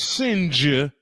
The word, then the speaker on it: Singe: The comment by Josh Singe, pronounced Sing correctly, Right.